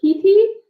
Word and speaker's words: Khetee: n here with us today from is it Kitty is that how you pronounce it yeah kitty kitty means following in